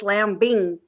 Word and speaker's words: Lamb: wearing on my head i pronounced your last name wrong and i apologize it's lamb hey welcome to the